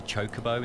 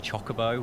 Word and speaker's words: chocobo: Final Fantasy X came out and I realised that it's pronounced a chocobo instead of a chocobo, which blew my mind.